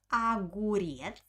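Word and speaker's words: огурец: okay next word is aguries aguries arjin agurias one cucumber argen aguriets monoga agurzi the first o i pronounce like ah because it doesn't have an accent aguries pay attention uh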